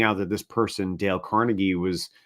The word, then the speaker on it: Carnegie: of Andrew carnegies um but also that their names are pronounced differently um so and it's from Scotland and so they put the emphasis on different syllables for example look at